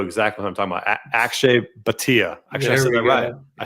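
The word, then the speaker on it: Akshay Bhatia: is you know exactly what I'm talking about Akshay batia actually I said it right there you go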